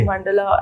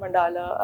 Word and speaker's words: mandala: Sir, there are various pronunciations, Okay. mandala and mandala are interchangeably used.